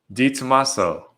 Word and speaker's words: DiTomasso: to hear how you say it to myself d tomaso oh that was easy yeah you said it